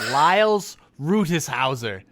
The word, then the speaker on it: Liles Rutishauser: This week, our guest did not tell me how to pronounce their name intentionally because it'll be funny. It's Liles Rutishauser.